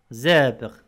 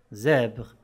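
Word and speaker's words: zèbre: مثال زابغ، زابغ، حمار وحشي. سواء جاءت في بداية الكلمة، في الوسط أو في الأخير، تنطق كحرف الزاي، زابغ، زابغ.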